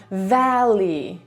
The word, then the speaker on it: valley: Problematyczna może być też końcówka i Y na końcu, ale to będzie po prostu valley.